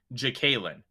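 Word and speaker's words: Jaquelin: worthless opinions got it he said jacalyn jacalyn Ward so that kind of makes sense because like in um uh Spanish K like porque and then um Jekalyn I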